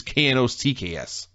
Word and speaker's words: Knox: website yeah maybe it's k-n-o-c-k-s let's see you oh yep k-n-o-x that's it it's just knocks it took them months